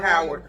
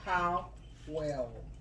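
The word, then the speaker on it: Howell: Like a howl, like a werewolf. So get it? Yes. Or if you're gonna say it, I say how well.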